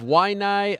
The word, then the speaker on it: Waianae: Ariel Helwani in New York City alongside the pride of Waianae, Hawaii, Max Holloway, who faces Cub Swanson this Saturday at UFC on Fox 15. How'd I do? Waianae, Hawaii.